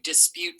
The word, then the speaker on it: dispute: the syllables we hear dispute dispute first syllable dis that's right go ahead and pull down the letters dis second syllable cute correct cute go ahead and spell that with your tiles remember if you ever run out of the letters you can always put a blank in there all right p-u-t-e dis cute d-i-s p-u-t-e what's the word dispute great